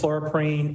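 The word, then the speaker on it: chloroprene: I BELIEVE THAT THE PROPER PRONUNCIATION IS CHLOROQUINE AND ETHYLENE OXIDE.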